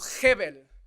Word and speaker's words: hebel: La palabra vanidad viene de una palabra hebrea que se podría pronunciar como hebel, que significa fugaz, pasajero.